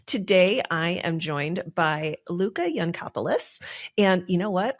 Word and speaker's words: Luká Yancopoulos: I am joined by Luca yanis and you know what I should double check is that how we pronounce your name that's exactly how you pronounce my name it sounds like you